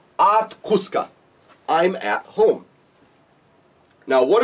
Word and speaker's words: Quska: Now, remember, the actual word kus is glottalized, but since this is a multi-syllable word, we aren't saying it as strongly, so I've actually taken it out here.